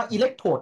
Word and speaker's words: อิเล็กโทรด: นะ อิเล็กโทรด เก็ด นะ ลูก อ นี้ อ่าน ว่า อิเล็กโทรด ลูก แปล ว่า ขั้ว